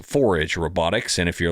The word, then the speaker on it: 4AG: but it is pronounced 4AGE Robotics and if you're like me and you've been calling it for a in your head every time you read it uh that's okay too but it's forage robotics you might also know